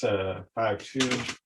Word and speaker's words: 52: It's pronounced 52.